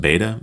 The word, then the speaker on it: Bede: Philip Chase, my friend, I think I've heard him say that it's actually pronounced Beta in Old English, but to me he'll always be the Venerable Bede.